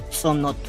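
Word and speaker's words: dzonot: El maya le llamaba sonot, pero como los españoles no podían pronunciar sonot, empezaron a decirle cenote. En maya se escribe ahorita D-Z-O-N-O-T.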